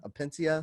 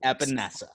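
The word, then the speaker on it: Epenesa: pronounce his last name at pencia apentia no no no no trust me my audience reamed me a new once i ended up mispronouncing that name it is epinessa sorry vanessa say it a million times or you vanessa epinessa exactly exactly so aj eppineza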